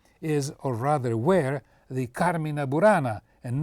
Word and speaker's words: Carmina Burana: One of the largest and most famous collections of Goliardic poetry is, or rather were, the Carmina Burana, and not Carmina Burana, as I hear it pronounced when a station broadcasts the excruciatingly long modern opera by the title.